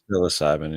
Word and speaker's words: psilocybin: I never say it right. Psilocybin, right? Psilocybin, yeah. Yeah, I always say it wrong.